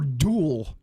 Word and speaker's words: Dole: Are you saying Dole or Duel? Dole. Spell it. Dole. DOLE. Dole. Yeah, Dole does a lot.